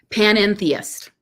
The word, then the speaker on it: panentheist: Panentheist. Panentheist. Yeah. It is like a sneeze.